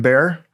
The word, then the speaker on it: Baer: One, tell us why it's spelled Baer as in Baer and how it got that name.